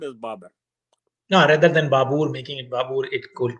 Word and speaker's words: Babur: India as his country, and we call him Babar.